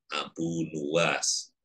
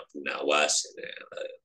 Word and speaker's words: Abu Nuwas: Qala syair Abu Nuwas, yang membacanya Abu Nawas. Qala syair Abu Nuwas bidhammin nuni wa bil wawi. Jadi nunnya di dhammah dan wawu, artinya Nuwas.